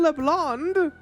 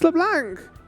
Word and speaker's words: Leblanc: It's not Leblond. It's Leblanc.